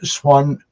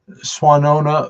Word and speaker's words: Swannanoa: a minister for the Unitarian Universalist Congregation of swan I'm mispronouncing it again already Michael um swona Valley located in this beautiful mountains of Western